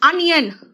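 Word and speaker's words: onion: एंड अनियन, अ है pronunciation, ओनियन नहीं है, अनियन है।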